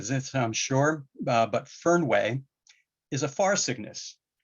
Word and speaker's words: Fernweh: And there's a German word, and I'm gonna have a hard time pronouncing this, I'm sure, but Fernweh is a far sickness.